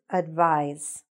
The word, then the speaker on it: advise: so the verb is advise i know it's written with an s but it's pronounced with a z sound can you advise me